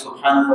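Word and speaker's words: سبحان الله: আপনি চিন্তা করতেছেন আমি মুখে জড়তা আছে, সুবহানাল্লাহ বললে কত ভুল হয়ে যেতে পারে। হাটা আবার ওই যে হালকের মাঝখান থেকে উচ্চারণ করতে হয়, সুবহানাল্লাহ, হার একটু বাতাস আসতে হয়, আমার তো শুদ্ধ হয় না।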